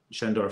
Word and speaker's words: Schoendoerffer: of course Shan sh I'm pronouncing it a bit like a Germany German way is a it's shandor is a German surname because of course Pier